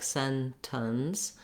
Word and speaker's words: sentence: so in the dictionary you'll see first syllable stress the first letter e says the ah red tent vowel and then you'll see